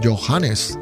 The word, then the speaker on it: Johannes: Yo decía Johan y parece que no. Parece que es Johannes.